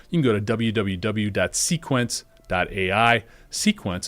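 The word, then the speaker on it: Cequence: Sequence is spelled CEQENCE.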